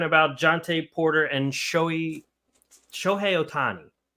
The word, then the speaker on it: Shohei Ohtani: so we're talking about jonte Porter and showy Sho Otani right that's how you say it show yeah